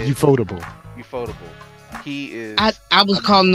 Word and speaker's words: Ufotable: Ufotable. He is. I was calling him ufightable, and I felt Ufightable.